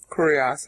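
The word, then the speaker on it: κύριος: Kurios, actually, is how you pronounce it.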